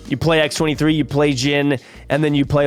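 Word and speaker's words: Djinn: will work in next we've got gin I believe is how you say it d-j-i-n-n on reveal next turn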